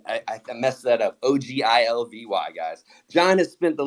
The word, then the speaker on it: Ogilvy: uh having me on and it's actually it's pronounced Ogilvy it's a named after like one of the